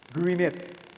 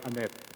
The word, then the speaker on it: Gwyneth: Gwyneth. Okay. I stand to be corrected there. It's the Gwyneth. All right. So that's the right pronunciation. Ala ko ay Annette.